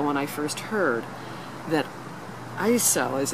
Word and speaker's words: ISO: four years ago when I first heard that ISO as it's pronounced by those inside that ISO was making